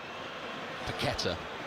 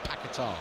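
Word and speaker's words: Paquetá: Actually, Paketa. I was just checking on his pronunciation before the game. I'm so used to saying Pakatar.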